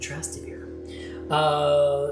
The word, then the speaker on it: Trastevere: I don't know how you say it. Rick Steves said Trastevere.